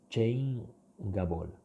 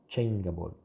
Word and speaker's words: changeable: Okay, GA, the combination GA is ga. So if here you removed that, that would be changeable. From change, you change the pronunciation to changeable.